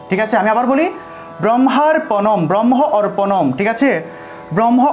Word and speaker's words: ব্রহ্মার্পণম: ভালো করে বোঝা যায়, আকারের উচ্চারণটা যেন স্পষ্ট হয়, ব্রহ্মার্পণম ব্রহ্মার্পণম, এভাবে একটু টান দিয়ে বলতে হবে, আর যদি ভেঙে বলি তাহলে এভাবে ব্রহ্ম অর্পণম ব্রহ্ম অর্পণম, দুইভাবে উচ্চারণ করা যায়,